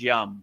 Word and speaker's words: Yam: So the yam which is the heart chakra you know the the proper pronunciation is yum yum m right like yum.